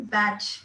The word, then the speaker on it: Bach: and but many people fondly called him Batch because his classmates used to call him Batch, and so both ways people pronounce it both ways: Batch flower remedy or Bach flower remedy.